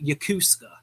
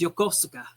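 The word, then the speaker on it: Yokosuka: the military, they talk about this place called Yakusa in Japan. Like that's how they pronounce it. Yakusa. Yakusa. And it drives me nuts because it's pronounced Yokosa.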